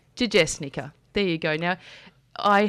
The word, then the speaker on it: Jajesnica: It's Jajesnica. Jajesnica.